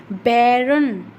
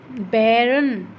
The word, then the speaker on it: बैरन: फिर है बैरन, बैरन, बै, बै को क्या बोल रहे हैं, लंबा बोल रहे हैं, बै, तो यहाँ पर भी फर्स्ट सिलेबल पर स्ट्रेस आ रहा है।